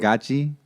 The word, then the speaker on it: Gadzhi: It's pronounced Gadzhi.